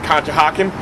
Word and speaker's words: Conshohocken: home here at le mans over here in conshohocken i'll spell it for you c-o-n-s-h-o-h-o-c-k-e-n conshohocken at this place el demon that absolutely